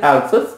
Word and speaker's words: Alsace: The right pronunciation for this town or the city is Alsace, and many people call it Alsace as well, but it is Alsace and Lorraine.